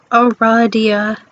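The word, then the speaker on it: Aradia: cool another zodiac kid you must have said aries out loud because she immediately corrects you it is pronounced eradia that makes sense although you've just met you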